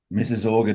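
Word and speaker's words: Mississauga: Mrs. Orga is it Mrs. Yeah. Mrs. Orga distribution centers.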